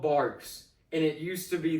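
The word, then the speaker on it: Barq's: They're like, "Dude, it's called Barks. I get the way it's spelled, but it's called Barks."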